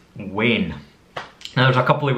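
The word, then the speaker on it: wean: In Scotland, it's wane. Now there's a couple of ways to spell it.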